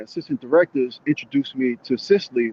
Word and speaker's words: Cicely: Cicely. Yes. Am I All right.